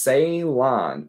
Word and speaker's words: Ceylon: It's pronounced Ceylon.